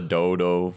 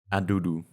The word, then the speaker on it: Dudu: It's not a dodo. It's not a day day and not DD mega dudu. The way it's pronounced is a dudu. Like poop, yes.